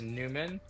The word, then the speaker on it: NVMEN: Yes, and even though it's spelled NVMEN, it's going to be pronounced Newman, but these are going to Newman. be the branding. Yeah, Newman.